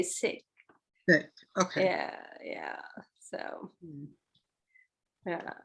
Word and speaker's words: Sikh: Sikh? Sikh, yeah, that's the real. Because it's written like Sheikh, but it's no, it isn't. It's, but a lot of people say Sikh, but I think they say Sikh.